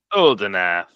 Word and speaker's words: Uldinath: Oldenath. I said it wrong. Can you give me a quick spelling? ULDINATH. Cool. Oldenath. All right. Oldenath's arms is I'll, T7.